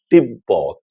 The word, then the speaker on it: তিব্বত: যদি ব এর সঙ্গে কিংবা ম এর সঙ্গে বফলা যুক্ত হয় তাহলে পরে সেই ব এর উচ্চারণ অবিকৃত থাকবে।